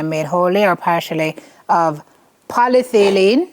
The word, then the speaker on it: polyethylene: wholly or partially of polyethylene, so you pronounce it? Polyethylene. Polyethylene, polypropylene, or polylactic acid will be prohibited.